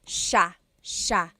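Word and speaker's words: siya: like it should be pronounced but it's actually pronounced Sha Sha so the SI i y it's a sha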